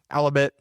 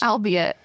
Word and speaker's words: albeit: Alibabet a slow process. Albeit. Alibabet. A slow process. It doesn't rhyme with halibit.